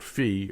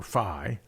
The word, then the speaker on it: phi: by using a parameter called fee or phi depending whether you use the greek or the english pronunciation i'll probably use both